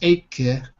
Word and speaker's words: acre: It's the IPA says acre, which is how you say it when you speak fast, like 30 acre. Acre. But yeah, with an American accent, we stress the R. So I say it more like acre. But yeah, okay. So it depends if you say it fast or slow.